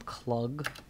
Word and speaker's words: Clugg: will explain shortly uh let's call him clog it's like anything that rhymes with ugg spells over to me